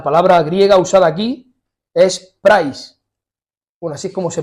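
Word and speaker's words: πραΰς: griega usada aquí es price bueno así es como se pronuncia se escribe Es que se me ha olvidado poner la diapositiva de la palabra pero se escribe praus no y se pronuncia price y significa humildad la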